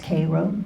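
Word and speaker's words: Cairo: Georgia he says Sue that's how you say it it's kro Georgia it's north of Tallahasse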